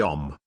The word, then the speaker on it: Om: and this is the OM and the OM only because these three letters a m pronounced in combination as om May well be the